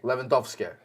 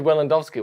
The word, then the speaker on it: Lewandowski: don't you robert yeah but how did you pronounce it lewandowski levandovsky but you've said it four times tonight upstairs and got it wrong every time what what you said willandowski one time landovsky that was a completely misspeak yeah misspoken and